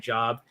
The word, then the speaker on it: Job: And by the way if you see j o looks like job pronounced job uh probably one of